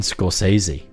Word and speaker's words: Scorsese: Martin Scorsese? I feel like I'm pronouncing this wrong. You're going to bully me now, aren't Yeah. you? There you go. Go on. It's Martin Scorsese.